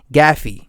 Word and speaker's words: Gaethje: You had Tony Ferguson versus Justin Gaethje. That's how you pronounce his last name.